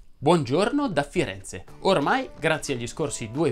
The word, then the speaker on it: Firenze: Ah, ovviamente non sono a Firenze, ma Firenze va pronunciato con la E aperta e il raddoppiamento fonosintattico.